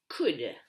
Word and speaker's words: could: past of can is could and couldn't don't pronounce the l right examples he couldn't